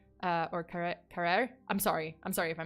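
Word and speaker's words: Carrière: the Canadian tourist Laurent Carrier. Or Carrere. I'm sorry if I mispronounced it. I keep like pronouncing it as Carrier, but it's Carrere, I think.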